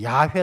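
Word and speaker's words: 야훼: 이렇게 발음이 되어 지는데 제 원래 그 히브리 즉 바람으로 따진다면 이제 야외 라고 이야기하죠 야외 홀로 계신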